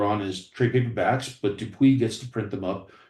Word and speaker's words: Dupuis: In Europe, you're working with Dupuis, is it pronounced? Dupuis, yes, Dupuis.